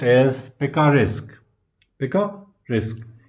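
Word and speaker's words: picaresque: तो उनमें से जो आपका फर्स्ट वन है वो है this one which is pronounced as पिकिका risk.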